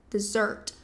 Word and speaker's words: dessert: Então, sim, esse desert e a sílaba mais forte vai ser a segunda. Desert. Dessert.